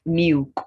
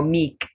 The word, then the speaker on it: milk: Milk, not milk or meek. Milk, the is not silent.